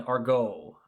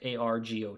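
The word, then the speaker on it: argot: sentence, you know, and there's also an argo or it's spelled a r g o t, but argo is is the it's a special or secret language or jargon used by two or more people.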